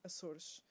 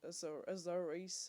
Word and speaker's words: Açores: And I am sorry for pronouncing Açores the way it's supposed to be pronounced, not Azores or whatever the hell it's called. They call it in English.